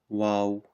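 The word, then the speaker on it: واو: letter down here and this is called the wow wow yeah and it's pronounced W so w a a w Wow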